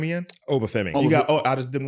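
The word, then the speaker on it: Oba Femi: Obafemi. You got. I just didn't want to mispronounce it.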